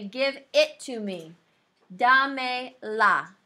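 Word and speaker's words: dámela: Dame la. Dame la. You still accent the third to last syllable.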